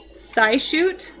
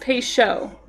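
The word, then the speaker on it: Peugeot: Um, sioot. Paoot. What? It's pronounced peso.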